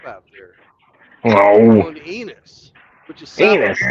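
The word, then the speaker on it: Ennis: Going to Enos, which is south Enos. of Dallas, Oh. which rhymes with penis.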